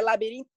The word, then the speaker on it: Labirinto: Mas o Labirinto é Labirinto, o T é mudo, certo?